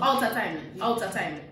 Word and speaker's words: out of timing: Yeah, so out of timing. Mm-hmm. Okay. So you don't pronounce like the E and the R, you don't pronounce the G, like you don't stress on those kind of letters.